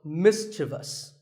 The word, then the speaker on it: mischievous: like in the word mischievous this is not mysterious there is no I after the V the last syllable is just thus so mischievous and then there are